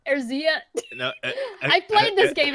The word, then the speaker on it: Eorzea: How do you pronounce it? Wow. Eorzea. Eorzea.